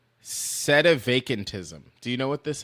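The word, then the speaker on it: sedevacantism: It is said set a vacantism.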